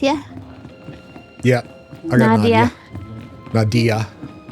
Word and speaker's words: Nadia: You got Nadja with you? Yeah. I got Nadia. Nadia. I keep calling her Nadja because of... I keep pronouncing it that way because of what we do in the shadows.